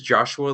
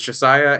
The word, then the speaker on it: Josiah: fleshed out later um Josiah is it Josiah I read it as Joshua the whole time um it is spelled a a little bit weird um but it's Josiah and Elias and Elias